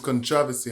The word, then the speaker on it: Kontravasy: are and where you're from my name is controversy and i'm from the bronx bronx born jamaican